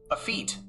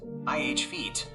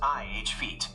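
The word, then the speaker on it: effete: Not a feet, but ih feet. The ih sound is short like the i in bit or sit.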